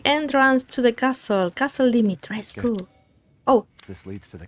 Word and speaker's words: Dimitrescu: that it's correct, because some people from Romania, I think, have been saying that it's actually Dimitrescu.